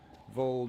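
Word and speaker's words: Voeld: Vold rhymes with cold because it is super cold.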